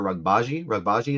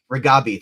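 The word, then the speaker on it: Reghabi: Do you think Petey's friend, I always forget her name, Dr. Rugbaji, is that what it was? Ragabi, thank you. Mixed up my syllables.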